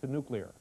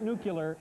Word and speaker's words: nuclear: straightened out then we'll go on to nuclear its not nuclear its nuclear